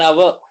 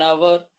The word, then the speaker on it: hour: An hour. Here H is silent. An hour.